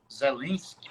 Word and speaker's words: Zelensky: elas, por exemplo, porque o presidente da Ucrânia, Zelensky, ou Zelensky, judeu, da pronúncia, ele é de origem judia, ele é judeu, tá?